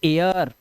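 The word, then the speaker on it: air: इस पर नजर रखना अगर ए आई के बाद आपको आर दिखाई देता है तो ए आई का उच्चारण क्या करोगे ए मत करना अब उच्चारण हो जाएगा ए आ क्या हो जाएगा ए आ जैसे ए आई के बाद आ तो इसे पढ़ते हैं एयर ठीक है अब इसे एर मत पढ़ना एर अब इसको आप एर नहीं पढ़ोगे अब इसको आप पढ़ोगे एयर क्योंकि ए का साउंड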